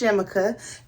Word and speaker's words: Chemica: Someone was like, no, maybe it's pronounced CHEMICA. Trust me, I know. I talked to the people at the company. So it is pronounced CHEMICA.